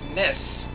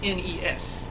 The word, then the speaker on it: NES: not n dot e dot s dot it's pronounced mess not n-e-s if you pronounce it n-e-s you're doing it